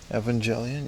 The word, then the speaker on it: Evangelion: I don't know if he's like a celebrity or nothing, but 247 Evangelian. Yeah, man. That's how you say it.